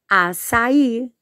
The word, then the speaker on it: açaí: Açaí também é uma comida típica do Brasil, então a pronúncia é açaí.